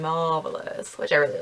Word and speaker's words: Mauvelous: this shadow called, well, it says it's called Mauvelous, but I imagine that they expect people to pronounce mauve as mauve, so it would be Mauvelous, which I really like.